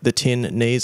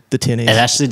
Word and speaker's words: The Tin Knees: to the tin knees I always make a point to pronounce it the tin knees and put a big space there obviously there there's a